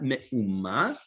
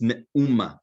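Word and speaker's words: מאומה: It's not me'uma, it's me'uma. It means nothing. You'll come across it in Tanakh, but it's something that is mispronounced very often.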